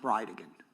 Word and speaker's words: Bridegan: It's Jared Gallen Bridgen. And I'll represent to you that it's pronounced Brideigan.